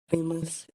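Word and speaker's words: famous: ओ यू इसीलिए इसमें ए का उच्चारण ए होगा।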